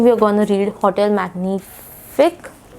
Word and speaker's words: Magnifique: um I think we're going to read Hotel magnific magnific yeah that's how it is pronounced so I already gave you like a